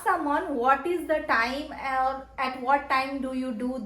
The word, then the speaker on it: hora: with the word AA it is silent so it is written as h o r a but you'll read it at AA so the question what